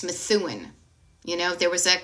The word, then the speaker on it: Methuen: It's Methuen.